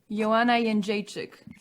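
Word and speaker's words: Joanna Jędrzejczyk: Yana yik.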